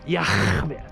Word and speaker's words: Yah: His name is Yah. That's how you pronounce it. Yah.